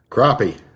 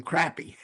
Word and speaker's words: crappie: Crappie. Crappie. Crappie. I keep calling him crappy. Crappie. Put an O there instead of an A in it.